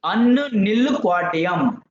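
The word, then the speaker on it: Unnilquadium: Unnu nil quadium. But pronunciation what you can say unnu nil quadium.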